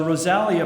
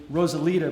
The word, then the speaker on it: Rosalia: She is the founder of the Rosalia Project for a Clean Ocean. I admit, Rachael, I mispronounced that to myself, thinking it was Rosalita, but I think that's because I'm a Bruce Springsteen fan.